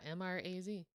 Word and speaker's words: Mraz: Well, like, because I just thought about it, because I was like, because I always thought his name was spelled like Mars, like Bruno Mars, but just like said differently. Yeah, Mraz.